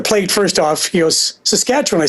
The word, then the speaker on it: Saskatchewan: He goes, Saskatchewan.